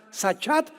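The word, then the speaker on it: שחת: La palabra corromper también es importante, porque la palabra hebrea sachat se escribe con S de Samuel y CH, como suena sachat con T de tío al final.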